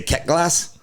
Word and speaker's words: Quetglas: I say Ket Glass. I thought it was Quetglass.